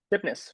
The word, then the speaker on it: Tipness: Tipness, Vinit Tipness, Tipness, Tipness, yes. as it's spelled.